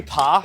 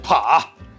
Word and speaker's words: 扒: the word is actually 扒 but because we're hick and we have a disgusting accent it's pronounced Pǎ which is a word